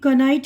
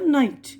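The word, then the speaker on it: knight: ना जी एच और नाइट में के भी साइलेंट है अब यह देखिए क नाइट नहीं पढ़ र नाइट ठीक है ना यह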